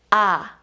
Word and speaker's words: ㅏ: let's start today's class the first one is ah ah ah ah and how to write it like this one two let's write it again one two one two ah ah ah the first one was ah and